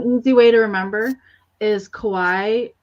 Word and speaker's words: Kawaii: way to remember is Kawhi rhymes with Hawaii okay okay Kauai and then I see